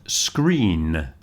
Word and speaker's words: screen: And screen. When you're working on your computer, you're looking at a screen with a N on the end.